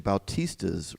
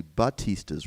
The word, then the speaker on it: Batista: since forever um it's I've been saying Bautista's revenge and it's actually Batista's Revenge so it's a he's